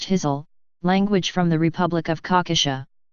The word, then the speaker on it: Kyzyl: In 2012, an Enduring Voices expedition documented the Kyzyl, pronounced Kyzyl, language from the Republic of Khakassia.